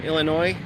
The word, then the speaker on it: Illinois: to annoy people from Illinois, call it Illinois with an S. You don't pronounce the S on the end, it's just Illinois.